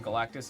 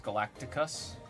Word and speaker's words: Galactus: I saw somebody pronouncing Galactus as Galacticus.